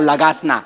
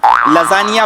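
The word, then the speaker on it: lasagna: तुमच्या बापानी केला होता लगासना लजानिया बोलता येत नाही स्पेलिंग वाचून लगाना बोलता तुम्ही तुमच्या बापाने केला होता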